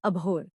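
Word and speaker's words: abhor: इसका प्रोनाउंसिएशन है अबहॉर।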